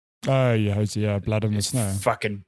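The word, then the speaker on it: Hozier: Hosea? Oh yeah, Hosea, Blood in the Snow.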